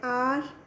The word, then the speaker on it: hour: When beta H letter is silent, then we use an. Like an hour, an honor, an honorable.